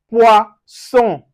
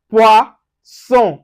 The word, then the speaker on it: poisson: Now, for instance, we have poisson, poisson. So you can see the son. We don't say zone here. The double S gives us so.